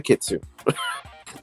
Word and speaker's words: kitsune: It's like, well, then that's not a kitsune. Kitsune. I'm just used to pronouncing the E at the end, I guess.